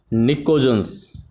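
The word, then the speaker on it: pnictogens: This nitrogen family is also called nicogens. PNICOGEN. Nicogens where P is silent.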